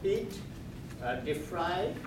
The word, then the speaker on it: Deprie: Pete Deprie. Am I pronouncing it?